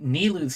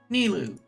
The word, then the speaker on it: Nilou: haven't finished yet being nilu's story Quest ilu nilo I think it's nilu is the way to pronounce it in game I haven't learned how